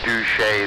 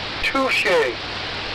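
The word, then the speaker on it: Touché Turtle: So we do agree that there's a Douche the turtle. No, we do not. It's Touche turtle.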